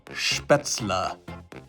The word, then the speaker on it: Spätzle: And I improperly pronounced the beady little pasta that's often served beneath sauerbraten as spätzle.